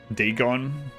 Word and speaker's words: Dagon: That one's pronounced um Deegon.